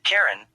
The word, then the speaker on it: Charon: Miriam Webster and Oxford English dictionaries these indicate only the K pronunciation of Karen when referring specifically to Pluto Moon speakers of languages other than English and many English-speaking astronomers as well follow this pronunciation however Christy himself pronounced the initial CH as a shish sound IPA after his